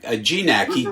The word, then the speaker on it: Gignac: Wayne Gignac, Gignac, he pronounces it, and he has been